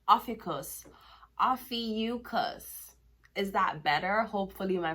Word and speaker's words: Ophiuchus: OPHIUCHUS. Good morning. This is your channel messages for the 10th of June. Apparently, I was pronouncing the word wrong. OPHIUCHUS. OPHIUCHUS.